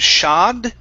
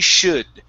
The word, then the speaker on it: should: fighter movements okay now make sure that when you're pronouncing should instead of shad with an ah you're using the uh sound okay so she should she should get um